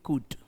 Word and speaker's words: could: इस वर्ड में एक तो ये ध्यान रखना है जो एल है ये साइलेंट है। तो इसे इंग्लिश लैंग्वेज में जब आप बोलेंगे तो इन इसके प्रोनंसिएशन का हमेशा ध्यान रखना। इसे आप इंग्लिश में बोलेंगे कुड।